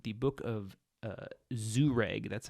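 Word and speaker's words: Jhereg: in a volume called the book of uh zoo reg that's how that's pronounced there for you for those of you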